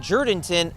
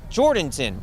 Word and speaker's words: Jourdanton: in the brush country some people call that town jurdinton others call it jordanton well no matter which